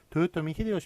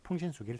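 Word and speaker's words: 豊臣秀吉: 2개가 헷갈려 썼는데 아 일본 사람들은 일본식 발음 대로 만 쓰기로 했습니다 그래서 도요토미 히데요시 한번 맞고 풍신 수기를 틀립니다 이등박문 틀리구요 이토 히로부미가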